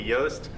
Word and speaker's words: Yost: My name's Sam Teller, and with me I have Haley Yost, rhymes with toast.